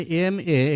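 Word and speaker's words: M.A.: শিখে দেখো এম এ, আমরা জানি এম এ এখানে শুরুতে এম আছে, এম এর এটা ভাওয়ালের মতো উচ্চারণ হয়।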